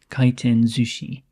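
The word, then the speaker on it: 回転寿司: is usually pronounced Zushi kiten Zushi rather than sushi so the S changes to a zed sound um anyway this is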